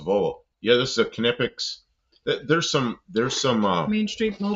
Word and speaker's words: Knipex: So I went to their website, and they actually tell you they're Knipex. They tell you how to pronounce it.